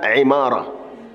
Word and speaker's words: عمارة: عندنا في علم الرجال غالب الاسماء عماره بكسر العين والقله منها عماره وهي لا تضبط الا